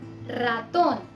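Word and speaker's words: ratón: Spanish में इसका pronunciation बहुत स्ट्रॉन्ग रहता है, र। जैसे रातोन, रातोन या फिर रेई। तो इसमें हमने रातोन या रेई नहीं बोला, हमने बोला है रातोन, रेई।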